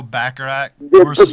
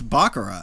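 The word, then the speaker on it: baccarat: most people don't know backarat know back but they never had a problem putting backarat in the in in in Bond movies before they just can you guys pronounce it properly it's bakara bakura and I don't think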